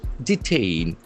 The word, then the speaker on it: detain: Detain. D E T A I N. That is a very important verb. Detain. Detain. The accent force on second syllable.